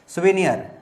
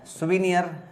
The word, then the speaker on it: souvenir: के रिमाइंडर के फॉर्म में, उसको बोलते हैं सुवेनियर। सुवेनियर, ध्यान रखिएगा, इसी का प्रोनाउंसिएशन मेरे को सही से याद है, शुरुआत में बिल्कुल नहीं। सुवेनियर बोलते हैं इसको, और स्पेलिंग कैसे याद करोगे?